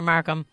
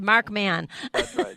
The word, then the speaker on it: Markman: Markham oh my pleasure mark man I always print mispronounce it it's a mark man yeah and I hope to talk to you